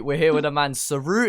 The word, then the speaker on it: Seru: As we speak, we're here with a man, Seru. Is that how you say it? Seru, yeah, that's how you say it, man.